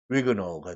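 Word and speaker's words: Huguenot: H를 발음을 안 하는 경우들이 있습니다. 위거노가 되는 거죠.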